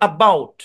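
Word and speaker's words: about: apply হইছে তারপরে দেখেন এই শব্দটা হচ্ছেন এবাউট আবাউট এরকম এবাউট যেহেতু এটার হচ্ছেন এই বাউট এরকমও না এবাউট এরকম না এবাউট ধরে নিয়েন এখানেও কি সো সাউন্ড এপ্লাই হয়েছে এই দুইটা তথ্য একটু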